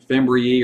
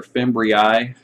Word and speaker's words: fimbriae: Fimbriae or fimbriae. So whenever you see that I-A-E on the end of a word, that's a Latin pluralization, and some people will say fimbriae and some say fimbriae.